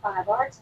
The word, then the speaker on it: Fiverr: Actually, I paid a 5R talent. That's how it's pronounced.